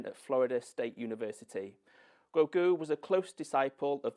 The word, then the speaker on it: Guo Gu: It's usually very hard to pronounce my name. If you just remember guacamole, Guogu, and you'll be fine.